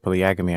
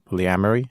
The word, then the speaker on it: polyamory: I did pronounce so when I said Polly Agra me I meant polyamory just I just want